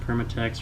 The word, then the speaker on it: Permatex: Permatex rhymes with latex, lube, goop, stuff.